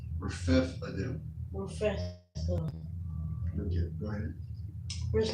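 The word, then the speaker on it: Rephidim: That H is silent. Rephethadim.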